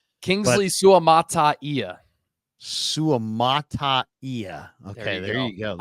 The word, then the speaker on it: Suamataia: it butchering it I've been calling him Kingsley Sumaya Kingsley suamataia suamataia okay there you go I'm I'm 95%